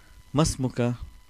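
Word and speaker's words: ما اسمك: Masmuka. So if you remember yesterday we said ma and ismu, because hamzatul wasl and it's the mad, alif mad, so both the sounds are not pronounced.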